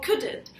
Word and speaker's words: couldn't: And the accent, the stress is on couldn't.